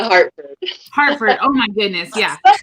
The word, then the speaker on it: Hartford: And then we're going to have Comika Hart come on in. And then, did I say it wrong? I said it wrong, didn't I? No, it's Comika Hartford.